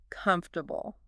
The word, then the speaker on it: comfortable: word comfortable okay comfortable the AI might say something like hey I notice you're stressing the second syllable too much instead of the first instead of the first yeah try emphasizing comfortable wow that's really specific